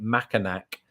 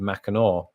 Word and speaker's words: Mackinac: and the entire segment on that i was pronouncing it mackinac not having a clue how it was actually pronounced i mean i just i never doubted that it was pronounced mackinac so i didn't really question myself and then